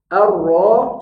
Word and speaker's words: arro: kalau ini monyong saja Ruru Ruru jangan ditarik kalau ditarik Ruru Ruru nanti jadi tipis biarkan tebal karena ro kalau domah tebal Ruru arro cara bacanya arro irro IRRI yang